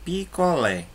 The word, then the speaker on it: picolé: Por exemplo, a palavra picolé. Qual é a sílaba mais forte aí? Lé. Lé. Logo, Lé é chamada de sílaba tônica, enquanto o pi e o có não são tônicas, são átonas. Por quê? Porque o som é mais fraco.